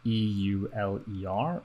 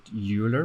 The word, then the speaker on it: Euler: xyz rotation which is called euler okay spelt e u l e r right uh so and for years and years i pronounced it euler because i thought eu like europe but no